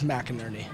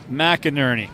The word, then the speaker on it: McInerney: It was very close. It's McInerney. McInerney.